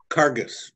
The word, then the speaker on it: Karges: about so terry is am i pronouncing your surname correctly is it craig's am i right cargus cargus okay so welcome to the